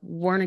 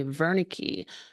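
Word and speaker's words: Wernicke: um degenerative is uh wari coricos uh syndrome um and I know I'm probably saying it right I think it's actually supposed to be verik corov syndrome so the Ws pronounce is a v uh but corov syndrome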